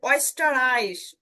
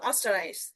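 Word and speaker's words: Ostereis: এবার এখানে দেখেন অয়েস্টার আইস, অয়েস্টার আইস, একটা ঝাঁকি হলো না, অয়েস্টার আইস। যদি উমলাউট না থাকতো তাহলে আমরা কি বলতাম, অস্টার আইস। উমলাউট না থাকলে অস্টার আইস, কিন্তু উমলাউট থাকার কারণে উচ্চারণটা এরকম করে করতেছে অয়েস্টার আইস।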